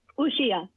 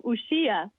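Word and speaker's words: Uxía: Uxia. I still messed it up. Uxia. There it is. Uxia. I think the accent is on the I, so Uxia.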